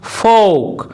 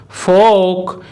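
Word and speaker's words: folk: Rule 4, কোনো ওয়ার্ডে এল লেটারটি যদি ও এবং কে এর মাঝখানে থাকে অথবা কোনো ওয়ার্ডে OLK একসাথে থাকলে তখন কিন্তু ওই এল লেটারটির উচ্চারণ সাইলেন্ট হয়। যেমন ফোক, ফোক, ইয়ক, ইয়ক, ফোক সং, ফোক সং, কিনফোক, কিনফোক ইত্যাদি।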